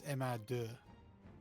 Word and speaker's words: MR2: Yeah, because if the French pronounce it in French, it's MR2, which became merde.